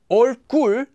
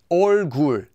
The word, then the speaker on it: 얼굴: It doesn't become 얼굴, just 얼굴.